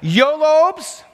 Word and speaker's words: YOLOBES: There's three ways to pronounce it. YOLOBES, YOLOBS, or the one I prefer, YOLO BS.